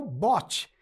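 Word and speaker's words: bought: você aí é o bote literalmente é esta pronúncia bote lembra daquele botezinho de remar é bote ok muito bem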